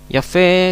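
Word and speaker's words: יפה: al final que eh la transliteración nos transmite que la la la H ahí en la última sílaba se carga se acentúa ya fe se traduce como bonito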